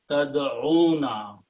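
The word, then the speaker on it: تدعون: So have again the two vowels there. We can drop one of them and we can put the harakat. Tad'una.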